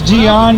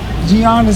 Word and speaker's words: Gian: for everybody to pronounce not Gianna spelled g-i-a-n some people who gotta